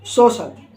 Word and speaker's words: social: जैसे for example सोशल, सोशल, SOCIAL, सी के तुरंत बाद आई ए आया हुआ है, इसलिए यहाँ पर सी का उच्चारण वो श है।